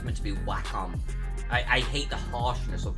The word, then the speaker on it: Wacom: And I believe the correct pronunciation is Wacom because that's what everyone says.